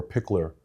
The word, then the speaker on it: Piklr: And I'm an ambassador for Pickler. Yep, I've seen that. And spell that for me because it's not spelled.